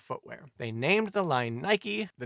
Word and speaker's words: Nike: They named the line Nike, the name of the Greek goddess of victory, although said goddess's pronunciation is more like Nike.